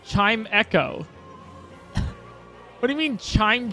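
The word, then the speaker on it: Chimecho: it's it's chimco right it's chime Cho it's not chime Cho it's chime Echo what do you mean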